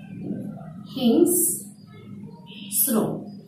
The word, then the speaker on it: হিংস্র: হিসেবে, যেমন শব্দটি এসেছিল হিংস্র, অন্ত অয়ের আগে যদি অনুস্বর থাকে তাহলে অন্ত অয়ের উচ্চারণ হয়ে থাকে ও এর মত, উচ্চারণটি হবে হিংস্র।